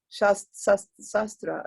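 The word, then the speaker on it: SASTRA: And Sasikala Devi, a researcher and academician at Shastra, that's how you pronounce, Shastra University, deemed to be a university in Tamil Nadu.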